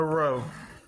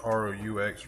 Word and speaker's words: roux: Me and my boo-boo cooking gumbo tonight, and the first step is making the roux. I think that's how you pronounce it. R-O-U-X, roux.